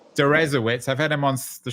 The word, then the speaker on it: Deresiewicz: How do you pronounce your last name? Durowitz. Dzawitz.